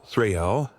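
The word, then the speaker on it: þræll: In old Norse, the term was thrill, pronounced threl, a thrral, the lowest rung in Viking society, a person stripped of kin, of honor, and of rights.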